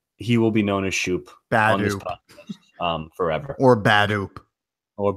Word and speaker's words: Schoop: It's spelled SCHOOP. That's not Scope. It doesn't spell scope. That's Shoop. That's Shoop Badoop. It's not the damn mouthwash.